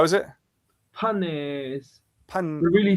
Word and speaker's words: Phanes: Panes. Pan, The really Phanes in English should be fine, but like pan. Panes is So it's like a P, thing.